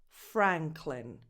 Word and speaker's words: Franklin: Same vowel that you have in cat, bad, Franklin. This last syllable is unstressed. So that vowel is a schwa, no definition. Just go from cl to n. Franklin, clin.